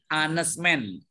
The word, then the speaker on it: honest man: pengucapan teman-teman Nah itu dibacanya hanya hilang Tapi bacanya anesman jadi kalau dia pengucapannya berarti anda adalah seorang